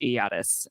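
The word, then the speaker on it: Ayatus: yes as Rand in the chat says it's pronounced iotus my final fantasy 16 yatas from Final Fantasy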